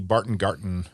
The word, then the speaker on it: Barton Garten: Let's start with the Barton Garten. What is that? Am I pronouncing it right? That's correct. Yes. It's supposed to be a German spin on it.